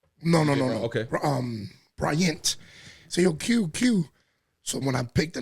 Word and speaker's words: Que: I'm gonna spell it as in QUE. Unique. But nobody knows how to read it. Right. Yo, it sounds like, DJ, Quest, or Spanish people say DJ.